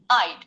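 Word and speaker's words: I'd: আই উডকে সংক্ষেপে বলা হয় আইড। উচ্চারণ এটাকে তুমি 10 বার উচ্চারণ করে শোনাও।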